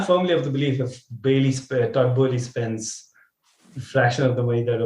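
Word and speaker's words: Todd Boehly: Todd Burnley? What? Todd Bowley. I think I have to get used to pronouncing his name right.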